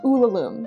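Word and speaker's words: Ulalume: just scratching the surface I hope I'm pronouncing uom correctly let me let me look it up well the internet says that it's pronounced ulum so follow the internet Den Z everybody let's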